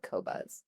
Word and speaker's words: Qobuz: Well, I asked the internet, I said, how do you pronounce it? And they said Qobuz. Okay. So it's Qobuz, but independently owned, you know, they don't have a bunch of shareholders with investments in military or war.